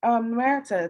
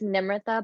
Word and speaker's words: Nimrita: Now, Marita, tell me, how do you pronounce your name? Because I'm probably saying it wrong. So it's Nimrita, but you can call me Nim.